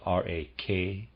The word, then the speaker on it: Rakshasas: Readers aside, Rakshasas is spelled R-A-K-S-H-A-S-A-S, Rakshasas.